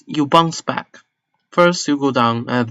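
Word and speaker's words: 爸: This character means father, and it's pronounced in Mandarin as ba.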